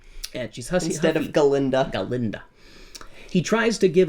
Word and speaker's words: Galinda: And she's hussy instead of Galinda.